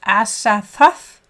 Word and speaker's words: Azathoth: And then det udtales Azathoth.